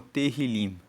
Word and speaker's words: Tehillim: Salmos, no texto original hebraico, é conhecido como Tehillim. Se escreve T-E-H-I-L-I-M.